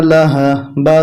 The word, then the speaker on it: لهب: লাম জবর লাহা জবর হা, লাহা। বা দুই জের বিন, লাহা বিন। যখন আমরা এখানে থেমে যাব তখন উচ্চারণটা হবে লাহাবে।